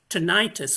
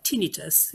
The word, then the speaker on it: tinnitus: of a kind of tinnitus or tinnitus whichever you like to pronounce it which is a constant